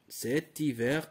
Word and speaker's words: hiver: Cet hiver avec T parce que H, nous avons un H muet.